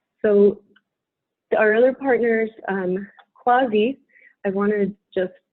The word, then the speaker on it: CUAHSI: nasty looking acronym um a lot of people mispronounce as kwashi which is why i have this phonetic spelling right next to it so uh think of like quasi this is going to